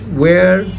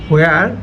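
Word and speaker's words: where: দেখেন উই ক্যান say which, ওয়ার, then ওয়েন, then ওয়াইল, নট হোয়েন, হোয়ার, হোয়াইল।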